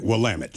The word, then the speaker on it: Willamette: Yeah, Willamette. Rhymes with dammit. Right, Willamette.